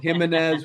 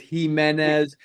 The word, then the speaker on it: Jimenez: We may have said Gimenez when it's Himenez, but it just goes to show it's tough to pronounce these names.